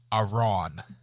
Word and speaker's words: Arawn: Well, Quill is not hard, and I'm Aaron, saying some of them, not all. Aaron. And then You mean A? Lib, yeah, no, it's Arawn.